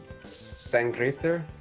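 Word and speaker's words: Sanngriðr: Sangrither? There's no T. Oh wait, no, that's how it's pronounced. it's like It's like TH. It's the like O looking thing is like a TH.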